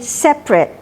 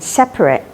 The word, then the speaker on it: separate: แปลก 1 คำ คือ คำ นี้ จะ ออก เสียง เป็น separate 2 พยางค์ ถ้า เป็น Adjective เช่น i' Like A